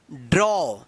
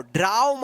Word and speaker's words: draw: चलिए यहां पे देखिए, DRAW, इसको क्या पढ़ेंगे, ड्रॉ। क्या पढ़ेंगे इसको, ड्रॉ। ड्राव मत पढ़िएगा, ड्रॉ।